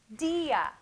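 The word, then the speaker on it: día: i with a tilde when you give a weak vowel a tilde it becomes a strong vowel so what does that mean it means it gets its own syllable dia dia so if i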